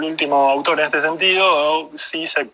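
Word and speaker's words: Žižek: Y el último autor en este sentido, Zizek también, o Zizek, como lo pronuncian algunos que lo conocen mejor, habla de, bueno, cómo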